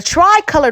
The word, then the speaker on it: tri-colored: We're going to add it to the three colored rotini. Oh, I can't talk to you. The three colored rotini, okay? The tri-colored rotini. That's why I'm saying it wrong. The tri-colored rotini. It's not no dang 3.